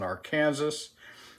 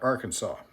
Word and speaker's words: Arkansas: uses um nagura slurry on a uh black Arkansas uh as a finisher and uh um he and almost every non-american uh refers to this as an arcan Kansas that's because you people are logical and sensible